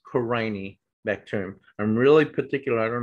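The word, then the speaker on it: Corynebacterium: killed a lot of people um and it's pronounced crying bacterium not corny okay so if i hear someone say corny bacterium you know i'll roll my eyes and say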